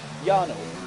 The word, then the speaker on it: Jarno: Jarno is his name, so I've been pronouncing it wrong.